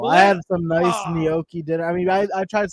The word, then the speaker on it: gnocchi: You just pronounce the pasta gnocchi. Is that not? How do you pronounce it? Gnocchi. There's no ni. It's just gnocchi.